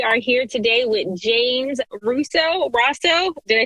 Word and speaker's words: Rosseau: We are here today with James Rosseau.